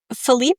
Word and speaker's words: Felipe: Felipe. Um, Actually, I should pronounce it Felipe. Is how you really pronounce it.